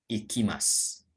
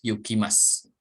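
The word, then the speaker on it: 行きます: Ini dibacanya ikimasu. Atau dibaca yu juga boleh ya, yukimasu.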